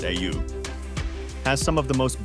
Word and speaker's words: Oia: Oia Village, pronounced AU, has some of the most beautiful views and accommodation in Santorini, with historic churches, colorful flowers, and epic ocean views.